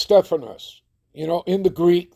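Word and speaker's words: στέφανος: All right, it's pronounced Stephanos.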